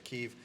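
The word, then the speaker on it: Kyiv: uh you you filthy the ukrainian pronunciation is keef forget your chicken kievs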